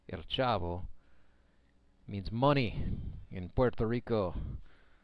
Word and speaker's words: El Chavo: Davi Sai Pizarro That's spelled C-H-A-V-O, not El Chapo. El Chavo means money in Puerto Rico.